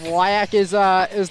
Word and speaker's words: WIAC: WIAC is what I've been told, the correct pronunciation of that.